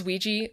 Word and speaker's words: Ouija: There's also plenty of spellings where it was like WEE-GEE. Ah. Like phonetically. Ah, that's awful. That was more in, like, the early 20th century where I was, like, seeing that. Really offensive to me. Right? It's so aesthetically displeasing. And also it's like, at that point, people know how to say it. You don't need to write it out phonetically when it's already